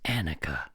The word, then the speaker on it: Annika: some people will come back and say it's Annika.